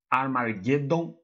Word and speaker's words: Armageddon: Vamos dar início a mais um detonado para o canal Super Mario RPG Armageddon. A pronúncia correta seria essa, mas eu gosto de chamá-lo de Amargedon.